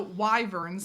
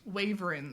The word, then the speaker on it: wyvern: So, wyverns. Tell them how you say wy waver. Waver. But you got to you got to put the the thing going on at the beginning, you know.